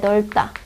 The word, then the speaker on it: 넓다: 그 다음에 겹받침은 대부분 앞에서 나는데요. 지금 리을, 비읍 같은 경우는 원래는 리을에서 나요. 자, 예를 들어 방이 넓다. 넓다가 맞아요. 넓다.